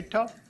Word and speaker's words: Toth: How come you didn't tell him how to pronounce my last name? No. I'm Toth. Toth?